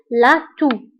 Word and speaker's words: toux: فبالنسبة لا تو تكتب بإكس ولكن لا ننطقها. إكس في آخر الكلمة ولكن لا تنطق. donc نقول la toux.